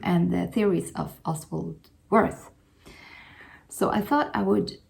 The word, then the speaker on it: Wirth: book uh of oswal worth um or vit which is probably his Swiss German pronunciation of his name but let's just go